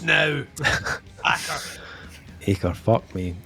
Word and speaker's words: Acre: This is how it's pronounced now. Acre, fuck me.